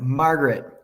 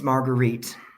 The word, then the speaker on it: Marguerite: I'm like, Margaret, but her name is Marguerite.